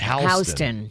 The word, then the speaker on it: Houston: that's very confusing because it's spelled exactly like houston texas right but it's pronounced houston yeah which is very odd i mean soho yeah south of houston yeah all those kind